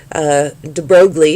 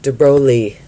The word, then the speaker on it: de Broglie: believe he was a prince de broglie is how we say it in america although i have been told it should be pronounced like de broglie however the point being